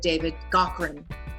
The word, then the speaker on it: David Gaughran: One of the things I have to say that I loved about working with David Gaughran, and I know that's the correct way to say it because I actually emailed him.